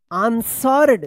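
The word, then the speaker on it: answer: आंसर्ड। देखिए यहां पे यहां से लेकर यहां तक जो है आंसर है। ए एन एस डब्ल्यू ई आर। यहां पे जो है ना डब्ल्यू साइलेंट रहेगा।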